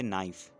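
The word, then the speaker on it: knife: ठीक है, नाइफ, इसमें के साइलेंट है, के को आपने नहीं पढ़ना है, नाइफ।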